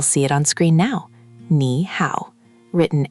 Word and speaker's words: nǐ hǎo: Let's break the first one. Nǐ, the initial is n, the final is i, and the tone mark is that little v-shape, which is tone three, the dipping tone.